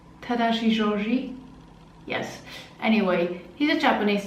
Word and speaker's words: Tadashi Shoji: something now for tadashi Georgie tadashi shoji I'm pronouncing that correctly tadashi shoji yes anyway he's a Japanese designer doing the